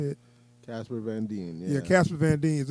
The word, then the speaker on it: Casper Van Dien: Casper Van Dien.